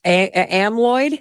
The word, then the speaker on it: amyloid: Though, I'm going to say this word wrong, but amyloid? Yes. Okay, I said that right? Okay. You said it right.